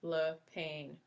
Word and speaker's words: Lapine: Brère Lapine, pronounced Le Pain, who was there from before I arrived and stayed at St.